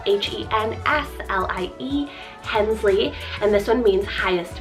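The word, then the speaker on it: Henslie: Similar to Harley, we have Hensley, spelled H-E-N-S-L-I-E, Hensley, and this one means highest meadow.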